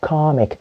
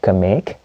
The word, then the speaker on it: comic: the pronunciation i go comic not kamik no you have to stress the syllable behind it comic i love to